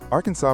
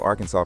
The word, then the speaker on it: Arkansas: Arkansas prescribes the official Arkansas pronunciation with silent final S and emphasis on the first and last syllables.